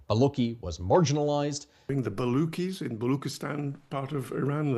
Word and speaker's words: Balochi: Baluchi language. Not Baloki language. It is Baluch people from Balochistan who speak Baluchi language. How difficult is that? Ch as in chocolate or Charlie Chaplin.